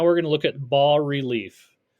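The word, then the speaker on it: bas-relief: going to look at ball relief ball relief Bas is a French word uh pronounced ball the S is silent and relief sculpture means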